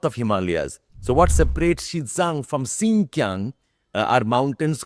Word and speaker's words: Xizang: यू spell it as XIZANG. You pronounce it as XIPSANG. Xizang.